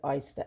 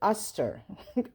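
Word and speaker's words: Oster: a coffee maker this how you pronounce this aster i always say oyster as a kid i don't know why so it's aster aster blender this is and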